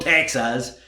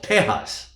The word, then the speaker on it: Tejas: from el paso tejas yes it is tejas it is not texas it is tejas the tejanos created the state the republic of tehas so what the english